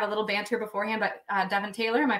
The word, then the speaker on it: Devyn Taylor: Usually I have a little banter beforehand, but Devyn Taylor, am I pronouncing that correct?